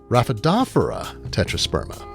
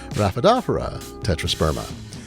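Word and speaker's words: Rhaphidophora tetrasperma: as noted a horticulturist told me it's actually pronounced raphaedophera tetrasperma now i pronounce it a different way i'm not going to perpetuate that so say it with me raphaedophora tetrasperma and while i did tell you the sun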